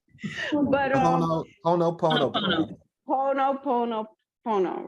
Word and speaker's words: Ho'oponopono: Ho'oponopono, right?